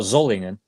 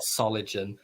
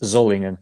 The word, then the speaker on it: Solingen: Can you pronounce that again so that everybody else can pronounce it correctly? What, Zollingen? Yeah. Yeah, that's how you pronounce Solingen. Not solid, not Soligen. Yeah. It's Zollingen, yeah.